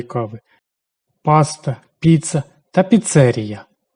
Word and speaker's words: піцерія: кави паста, піца та піцЕрія саме так наголошують це слово В країні їх більше 40 тисяч, і це лише офіційно зареєстрованих.